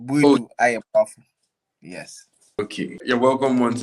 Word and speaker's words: Boadu-Ayeboafoh: But let me help you out. So then Boadu-Ayeboafoh.